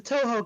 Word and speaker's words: Touhou: same company behind godzilla oh no t-o-u-h-o-u okay different name pronounced the same how many games are